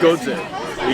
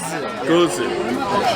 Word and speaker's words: Gose: I think it's Gose. You don't quite pronounce the S. Goes. Gose.